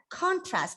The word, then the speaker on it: contrast: contrast contrast sorry so you have to pronounce this word as contrast because this is a noun with two syllables right so contrast in